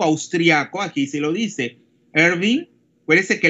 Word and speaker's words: Erwin: Entonces, esta ecuación, mire, fue formulada por el físico austriaco, aquí se lo dice, Erwin. Acuérdense que la W en alemán se pronuncia como V de vaca, ¿eh?